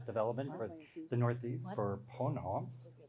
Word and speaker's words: Ponant: for the Northeast for Pono we don't pronounce the T and I don't speak